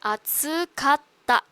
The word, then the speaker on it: 暑かった: Okay, atsukatta. Again, this is small tsu, which means next syllable is double consonant.